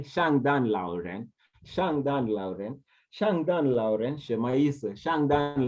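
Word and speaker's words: 圣诞老人: In Chinese, you say Shangdan Lauren, Shangdan Lauren, Shangdan Lauren, Shangdan Lauren is Santa Claus.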